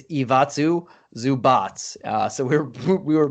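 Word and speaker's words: Ivica Zubac: do got to say we both actually butchered it i looked it up after we said it it's iwatsu zubats uh so we're we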